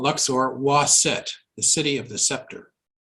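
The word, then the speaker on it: Waset: Wa-Set in hieroglyphs is a was scepter with a feather and a T, together pronounced Wa-Set, and the city symbol.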